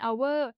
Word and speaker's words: hour: ยก เว้น อยู่ ด้วย เรา พูด ว่า and hour เพราะ ตัว อักษร h ใน คำ นี้ ไม่ ออก เสียง เรา ไม่ ใช้ บท